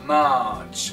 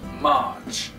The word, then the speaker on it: March: March, on n'entend pas le R du milieu. March.